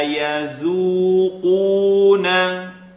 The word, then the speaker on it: يذوقون: So the dal is light and the qaf is heavy.